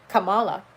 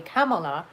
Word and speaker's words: Kamala: just like tucker i kept saying kamala to me her name was kamala but now that i have learned that it's actually kamala i will do my best to remember that that's how it's pronounced even though i know